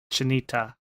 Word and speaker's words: Chinita: Oh, I think I was in a stream where we talked about all the mispronunciations of just the Amour part. So Chinita. Go ahead. Chinita.